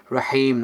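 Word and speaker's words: رحيم: It's like a soft Ha. It should be Bismillahir Rahmanir Rahim, okay?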